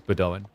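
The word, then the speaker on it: Bedouin: And I was assured by multiple people is Bedoan.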